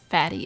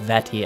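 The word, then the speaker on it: Vaati: go a wind sorcerer named fatty appeared i think it's pronounced vetty actually i want to call him fatty all right if you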